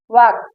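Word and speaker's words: walk: देखिए ए के बाद यल आया है तो यहाँ पर ये यल साइलेंट है। देखिए काफ, half, balm, palm, could, should, वाक।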